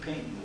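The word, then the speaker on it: Paignton: So it was Torquay, and Payton was Paigton, Payton.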